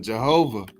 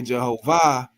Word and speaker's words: Jehovah: time, and he said this particular pronunciation of Jehovah, has to do with being the IH instead of the AH, has to do with heaven and earth.